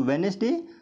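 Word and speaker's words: Wednesday: जैसे यहाँ पे वेडनेसडे, तो वेडनेसडे यहाँ इसको हम बोलते हैं वेडनेसडे, यहाँ पे डी साइलेंट है, डी वेडनेसडे बोलते हैं।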